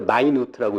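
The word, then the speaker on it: minute: 근데 분하고 초 갖고 제가 최근에 알게 된 게 재밌는 게 분을 영어로는 미닛이라고 하잖아요. 근데 똑같은 영어 철자를 마이누트라고 읽을 때도 있어요. 그때는 뜻이 작다는 뜻이잖아요. 네.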